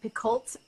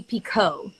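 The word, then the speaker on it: Picoult: jody's last name because i started out calling her jody piccult and i know that's definitely not the way to pronounce it but i think you can't say um jody pico oh really oh there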